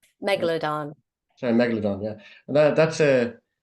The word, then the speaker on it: Megalodon: see here yeah first uh I'm probably not pronouncing this right uh Mega loon Megalodon sorry Megalodon yeah that that's a am I